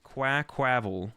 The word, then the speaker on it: Quaquaval: Oh, like quack, not qua. Quackquavel. Quackquavel? Oh, like quack. Yeah, that makes way more sense. Quackquavel.